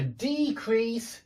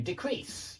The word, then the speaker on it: decrease: decrease to uh to decrease. Yeah, a decrease to decrease. I must admit with decrease, I can imagine people saying to decrease as well. I can imagine both pronunciations for the verb.